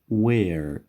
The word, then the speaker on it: where: where یک چیز می خوایم یادآور شم که در این کلمه H سایلنت است و این تلفظ نمیشه.